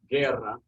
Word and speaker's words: guerra: But anyway, so yeah, it's either like a hard G like guerra, which would be war, G-U-E-R-R-A, or if you